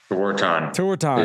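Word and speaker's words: Tewaaraton: How do you pronounce it? Tewantin.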